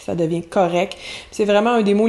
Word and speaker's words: correct: Donc, correct, on prononce pas le T souvent, on va simplifier les finales. Donc, de correct, on passe à correct, ça devient correct.